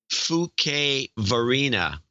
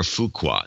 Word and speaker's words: Fuquay-Varina: to claim the protectorate of Holly Springs and Fuquay-Varina. I think that's how you pronounce it. Or Fuqua. No, it's Fuqua. Fuquay. It's got to be Fuquay. Fuquay-Varina.